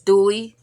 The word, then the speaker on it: Douly: Like if you think about Tom Douly, that's how you say my name is Douly Diamonds or Douly's Crochet and Diamonds.